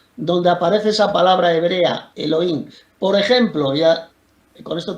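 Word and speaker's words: אלהים: Y en hebreo la palabrita Dios es la 430, que se pronuncia Elohim, que significa dioses en sentido ordinario.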